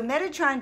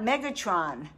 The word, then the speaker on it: Metatron: So Metatron just told me I had his name wrong. It's not Megatron, but I'm here.